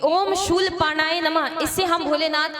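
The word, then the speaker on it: शूलपाणये: इसके बाद ओम शूल पाणाय नमः। क्या? ओम शूल पाणे नमः। पाणाय नहीं, पाणेय नमः।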